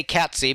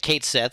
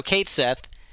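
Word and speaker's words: Cait Sith: it going uh so I used to say Katy because that's the proper pronunciation but Square Unix has made it Kate Sith so Kate Sith I also think is srank I think Kate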